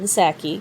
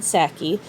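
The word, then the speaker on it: Psaki: house press secretary jen sackey because the p is silent and sacky just like the p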